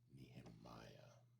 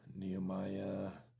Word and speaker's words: Nehemiah: Nehemiah.